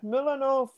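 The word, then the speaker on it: Mlodinow: Aye, and the Leonard Milanov, that's how you pronounce it, book, you know, about Feynman, Sometime with Feynman.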